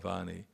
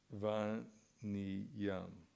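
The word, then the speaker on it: vanijyam: No, not Vani. Vani. Let's see if I got the proper pronunciation. Vaniyam. It's Vaniyam, not Vani.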